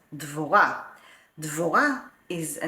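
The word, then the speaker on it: דבורה: Deborah, in Hebrew, we pronounce it as Dvorah.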